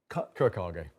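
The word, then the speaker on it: Kurokage: Kurakage. Kurakage. Think of it in Japanese, how they pronounce it.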